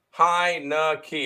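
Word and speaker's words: Heinicke: as a fave fade the Deadskins that's fair hi no key that's how you pronounce his name heinecke there you go um Boise State plus two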